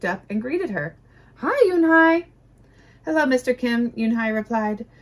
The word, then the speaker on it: Unhei: Yes, it's pronounced Yunhai, and it means grace, Mr. Kim nodded. Yunhai, Joey said slowly, and this time perfectly.